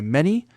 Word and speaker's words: Mara: It's pronounced ma. Okay, perfect. A little rolled to the R.